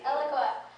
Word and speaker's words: Eloqua: you um eloqua I said it right correct eloqua um which of which he is the CTO